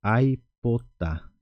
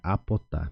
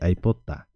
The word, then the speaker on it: aipota: Porque se eu fosse falar conforme o primeiro grupo, eu não usaria essa letra I. Então ficaria estranho a forma de pronunciar, ficaria apotar. Por isso usamos a letra I, aipotar.